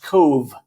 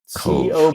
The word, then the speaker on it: Cobh: And that town is pronounced Cove. Cove, B-H. BH is the Gaelic, and it's pronounced Cove.